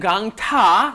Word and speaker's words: 강타: You want to do 강타, right? It's a T sound, 티읕. You want a T sound. 강타를 좋아하니까 강타의.